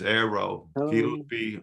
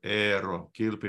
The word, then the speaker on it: Eero Kilpi: My name is Eero Kilpi, or Eero Kilpi, how it's pronounced in Finnish, and I've been involved